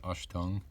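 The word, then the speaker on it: Achtung: It just says Ashtung. I believe that's how you pronounce it.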